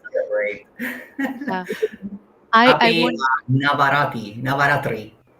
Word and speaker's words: Navratri: uh, I Happy want Navaratri. How do I pronounce it? you pronounce it Navratri.